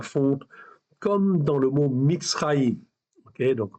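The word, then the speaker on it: מצרים: comme dans le mot Mitzraïm. Okay, donc Mitzraïm, vous l'entendez quand vous le prononcez, vous avez ici Tsadé Resh. Okay, et ça se prononce Mitzraïm, okay, qui veut dire Égypte.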